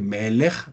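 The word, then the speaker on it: מלך: acentuado por defecto pero vuelvo a decir melej por ejemplo melej está acentuado en su primera sílaba si yo cambiara esto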